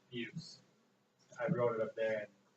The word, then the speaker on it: Beus: That's how you say it, Beus.